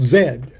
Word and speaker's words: Z: over the fact that they they say Z is they spell it Zed okay London a to